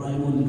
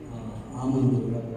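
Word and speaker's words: Almond: 아몬드인데 그 AL로 이렇게 발음이 나가기 때문에 많은 사람들이 알몬드 이렇게 말하고 파머라고 하는 또 PAL을 이렇게 팔머라고 하는데 LA 부분이 이제 해야 되기 때문에 그냥 아몬드라고 부르는 것이 맞습니다.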